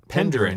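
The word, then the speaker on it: Penderyn: How would you pronounce that, Ben? Penderin.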